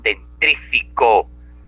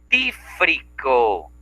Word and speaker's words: dentífrico: véndame por favor un dentrífico, una pasta de dientes. Ah, un dentrífico. Ah, ¿quieres comprar un dentífrico? ¿Eh? Lo correcto es dentífrico. ¿Sí? Y ahí también lo pronunciamos mal.